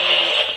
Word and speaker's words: Dooley: Because when that was Tom's name was actually Thomas Dooley, but they pronounced it Dooley.